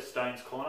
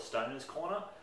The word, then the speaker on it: Stones Corner: So we went to Stone's Corner. I like to call it Stoner's Corner. but it's actually pronounced Stones Corner.